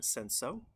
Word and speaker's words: Cinsault: This version of Have a Nice Day is 56% Senso. That is spelled Cinsault.